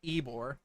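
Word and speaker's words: Ybor: sprang forth from Tampa's eore City yes that is in fact pronounced ebore I don't get it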